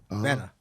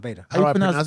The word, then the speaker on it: beta: you pronounce b-e-t-a b-e-t-a better how you pronounce b oh beta sorry it's fine no not beta yeah beta in england they pronounce it beta uh-huh so when when